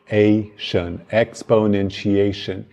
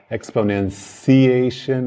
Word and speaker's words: exponentiation: Vamos ver a pronúncia de exponentiation. Você vê aí, expo, como P-O-U, po, exponentiation. No chi, eu escrevi T-C-H-I, mas tem grande mistura, né? Às vezes a pessoa fala exponenciation, às vezes chiation, com chiado.